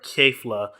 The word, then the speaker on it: Kefla: I know it's pronounced Kefla, but I do say Kefka because Kefka is the villain of Final Fantasy VI, and I think that's a better way of pronouncing it, even though it's not spelled the same.